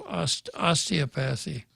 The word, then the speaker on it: osteopathy: Doctor of osteopathy. Osteopathy. Osteopathy. I had my emphasis on the wrong syllable there for a second.